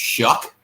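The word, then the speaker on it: Shough: that's when Tyler shook it's actually s-h-o-u-g-h but it's pronounced Chuck like what is that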